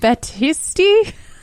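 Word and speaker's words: Batiste: John Batisti.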